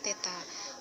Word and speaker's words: theta: Jadi simbol seperti ini bacanya theta.